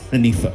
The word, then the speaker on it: Rengifo: Luis Rengifo. Yeah. Okay. That G is silent. That G is silent. Rengifo.